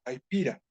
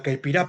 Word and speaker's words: caipirá: Eh, esa tiene un nombre en portugués que es la caipira, o la caipirá, perdón, la caipirá con acento en la A.